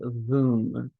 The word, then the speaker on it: Voom: And we spent a long time talking about what they have to offer with Voom, rhymes with Zoom.